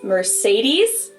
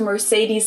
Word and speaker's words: Mercedes: So most Americans call this Mercedes. In German, Mercedes we pronounce Benz.